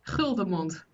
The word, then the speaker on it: Guldemond: I'm going to pronounce your last name, Guldemond. Yeah, that's the English pronunciation, How and do you you did pronounce it. it in the Netherlands? Guldemond.